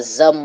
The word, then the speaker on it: Xumm: And the wallet we use for the XRPL is called the Zum wallet. And it's spelled XUMM.